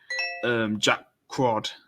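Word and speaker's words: Jack Quaid: Jack Crawd, that's how you say his name.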